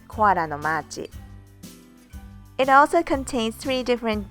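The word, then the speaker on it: コアラのマーチ: the way koala's march in japanese we pronounce it koara no machi it also contains three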